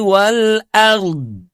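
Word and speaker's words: والأرض: Yas'aluhu man fis samawati wal ard. Saya ulang. Yas'aluhu man fis samaawati wal ard wal ard. Sebab huruf dhad pun juga dia punya sifat istitalah mengalir memanjang.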